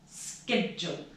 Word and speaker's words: schedule: now finally get your schedule I know it's spelt CH but it's pronounced schedule okay repeat the words